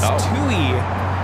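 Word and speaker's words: Touhy: for the Duncan location it's Tui not two I mean the H is silent go figure the location Elk Grove Village it's 2750 2E Avenue 6 p.m.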